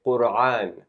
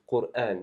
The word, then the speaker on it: Qur'an: A lot of times we'll hear people say Qur'an. So make sure it's pronounced as a hamza or an alif. Qur'an.